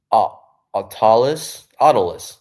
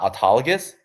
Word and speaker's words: Autolus: Autolus. I'm wondering. Yeah, I was wondering why I couldn't pronounce this word because this is not a word. It's not autologous. It's autolus.